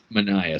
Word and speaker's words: Manaea: If the Yankees go to the A's, they make the trade for, I'm going to pronounce it wrong. Is it Manaea, the pitcher that everyone wants? Sean Mania. Manaea, sorry.